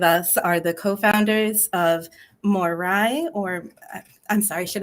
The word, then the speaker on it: Moirai: have asked for it is it morai or Mori I looked up several different ways to pronounce it more I mean yeah we tend to go with Moira myths perfect okay so Moranis